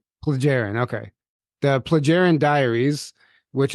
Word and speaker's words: Plejaren: the by the way how do you say this plagarian or plearin? Plaggarin. Plleagaren.